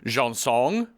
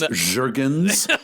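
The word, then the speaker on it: Jergens: identifies it, she's like, she pronounces it Janson. Janson. But it's Jurgens.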